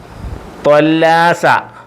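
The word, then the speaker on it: طلّاسة: ഹിബർ മഷി ഹിബർ മഷി ത്വല്ലാസ ത്വല്ലാസ വെറും താ എന്നല്ല ത എന്ന് പറയരുത് ത്വ ത്വ ത്വ എന്ന് പറഞ്ഞ ഫുൾ ശബ്ദം ഫുൾ വോളിയം ത്വല്ലാസ ഡസ്റ്റർ ത്വല്ലാസ ഡസ്റ്റർ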